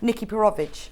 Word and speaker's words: Nikki Perovic: Nikki Perovic. Pardon? Nikki Perovic. Is that how you say it? Yeah, I practiced it for quite a long time till I could just do it.